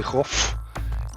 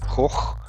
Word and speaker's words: Van Gogh: A tip for everybody, the H at the end of Van Gogh is silent. You don't have to do anything with it, so you don't have to say Goff in English or American.